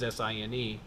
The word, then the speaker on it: sine: in math class, there's two very distinct concepts that are pronounced sign. One of them is S-I-G-N, as in positive and negative, and the other is S-I-N-E, as in sine and cosine.